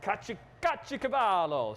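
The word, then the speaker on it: caciocavallo: Kacho Cavallo.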